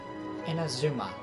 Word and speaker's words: Inazuma: Inazuma. That's how you pronounce Oh, so that's why you're here.